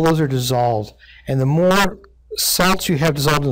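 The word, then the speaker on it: mho: is an OHM and conductivity is the inverse of an oh thus it's spelled backwards we call it a mo but the term that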